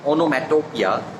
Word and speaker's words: onomatopoeia: So onomatopoeia, so second O is silent, not metopoeia. So onomatopoeia means when a word's pronunciation imitates its sound.